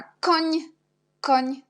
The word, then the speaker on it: koń: Et à la fin, on a koń. On a seulement N avec l'accent, on prononce ni comme NI dans le mot przymiotnik.